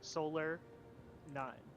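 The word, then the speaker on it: solanine: e like i-n-e yeah like I think it's Sola like solar nine it's taken serious the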